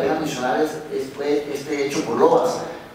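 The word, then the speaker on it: Lovaas: mencionar este hecho por lobas eh o lobas como él decía que lo pronunciara es un psicólogo eh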